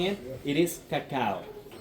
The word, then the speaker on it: cacao: It is cacao. Cacao because cacao it is how the natives they used to say it.